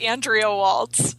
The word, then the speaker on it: Andrea Waltz: pronunciation of the name so andrea can you pronounce your name for our listeners oh you're so close yeah it's andrea waltz okay you're right there okay thank you so